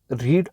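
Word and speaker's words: read: have तो इसको हम रीड अगर फर्स्ट फॉर्म होगी तो इसको हम रीड पढ़ते हैं सेकंड फॉर्म होगी तो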